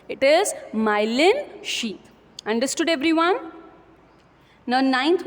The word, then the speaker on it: myelin: You have to pronounce it correctly. It is myelin sheath.